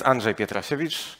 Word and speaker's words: Andrzej Pietrasiewicz: in spending my own pronouncing my name so my name is Andre pietrosevich and today I will